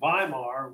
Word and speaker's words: Weimar: of berlin called baimar the germans pronounced those w's as a v the by mark weimar was the name of